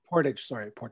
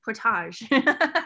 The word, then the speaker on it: Portage: Portage. Yeah. They have a French pronunciation. Portage.